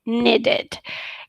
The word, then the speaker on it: needed: ago i need it needed keep in mind do not make it very long e need or something no needed it it it pronunciation